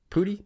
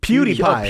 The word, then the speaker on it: PewDiePie: Pootie? Bro, I don't think that's how you say his name. Why do you say it? PewDiePie.